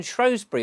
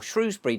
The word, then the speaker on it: Shrewsbury: But all these places, even Shrewsbury or Shrewsbury, depending on how you want to pronounce it, they've all got plans, as indeed where I live.